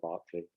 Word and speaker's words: Berkeley: let's go back to berkeley i keep i could never know whether i should pronounce it berkeley or barkley it was actually berkeley when berkeley wrote the book so perhaps i should say berkeley but it's partly to